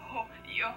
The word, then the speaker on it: hooyo: You see, Hooyo has two syllables.